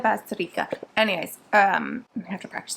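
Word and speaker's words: Bazterrica: Basterica. Okay, Agustina Basterica. Okay, got it. Agustina Basterica.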